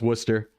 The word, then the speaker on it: Worcester: Yeah, it's it's pronounced Worcester.